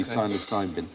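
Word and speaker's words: psilocin: but the magic mushroom syosin silent P silin interesting experiments been done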